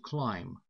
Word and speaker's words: climb: Обратите внимание, глагол to climb – пишется он C-L-I-M-B. Вот это B в конце, оно совершенно немое. Оно никоим образом не произносится.